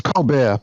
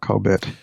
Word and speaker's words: ColBERT: It's Colbert, by the way, not Colbert.